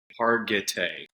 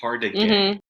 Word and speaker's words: Hargitay: And Mariska Hargitay is her last name, and Hardigay is what I have been saying for years. Hargitay, but yeah.